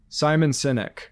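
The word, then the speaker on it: Simon Sinek: it's over on my my bookshelf over there Simon synic I hope I'm pronouncing his name correctly yeah and yes you are he's a I know my chief galvanizing officer is really into Simon senic so that book Not only was it a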